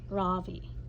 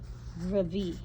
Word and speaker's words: Ravi: voice quivering a little my name is not ravi it's pronounced ravi oh oh my gosh